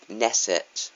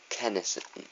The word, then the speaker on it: Knesset: Now, in June 28, 2011, they basically hacked this site called Knesset, or Knesset. I think it's a silent K in it, or Kesset. But it was an Israeli